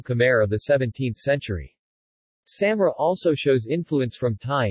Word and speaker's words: Samre: Samre, Samre pronunciation, same, is a nearly extinct Perak language of Thailand and, formerly, Cambodia.